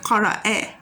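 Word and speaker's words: قرأ: We have qara'a has a fatha at the end, so it becomes like that, qara'a.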